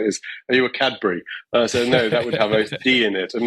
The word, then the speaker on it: Kaberry: here today with cadbury am i pronouncing that right you can call me whatever you want i've been called many things in my time but kabry is how i pronounce it honestly it doesn't matter